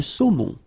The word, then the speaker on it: saumon: O-N, remember, nasal in your nose.